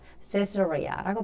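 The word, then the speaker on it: Caesarea: 세스로리아라고 발음합니다.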